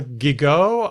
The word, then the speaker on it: Gigot: the editorial page editor Paul gigo or is it gigot to rhyme with bigot I'm not sure here it is why